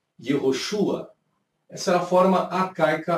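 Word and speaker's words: יהושע: Então você tinha o Yud, você tinha o Re e você tinha o Vav, que as pessoas pronunciavam Yehoshua.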